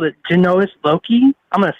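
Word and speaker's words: genius loci: going to try to say they called it genoa's loki i'm going to spell it it's g-e-n-u-s space l-o-c-i um and that's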